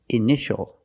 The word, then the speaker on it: initial: patient and this word initial or ini initials more than one we see TI a together so the t is pronounced sh sh initial initial my initials